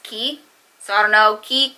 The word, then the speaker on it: Quay: I know a lot of people say Quay, but I heard it's pronounced Key.